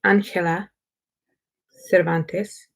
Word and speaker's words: Cervantes: by Angela Cervantes and you might hear someone say Angela Cervantes is that is the Spanish way to pronounce that name gonna take the dust